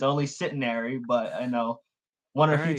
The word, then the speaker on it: Centenary: Honestly, a lot of people get that mixed up with like centenary, cemetery. So it's like, yeah, you got C- it right. Cemetery. There's no N in it.